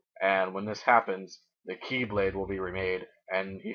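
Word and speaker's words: χ-blade: by Sleep is great keyblade except it's like not key but it's like X and it's pronounced key so that's the keyblade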